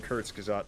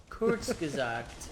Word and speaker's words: Kurzgesagt: I am literally just reciting Kurtzgazat almost verbatim. Kurzgesagt. I think I was still close.